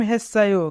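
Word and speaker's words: 했어요: খেম হেসায়ো, খেম অর্থ গেম, হেসায়ো মানে খেলেছি। যদি বাচ্চিমের পরে ইয়ং থাকে তবে ইয়ং এর স্থানে বাচ্চিমটি যায়, তাই উচ্চারণ হবে হেসায়ো।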